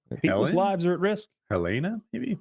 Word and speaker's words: Helene: Helena, maybe? How do you pronounce it? Cat 4. Goodness, it's a big one. What is it? Hurricane? Cat 4. Hurricane. I don't know this word. Helene? Helene? Oh, Helene.